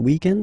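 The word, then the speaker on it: week-end: we're talking about the weekend okay but then pronounce it the French way weekend the weekend okay but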